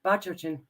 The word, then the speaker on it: Bachochin: We have Jay Bachochin. Now, you know what? You asked me to say it properly, and now I screwed it up. I think you did it right. Bachochin.